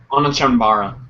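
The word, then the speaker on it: Onechanbara: Homer says, and I don't know how to pronounce this, Onichambara? Onichambara. That's how you say it.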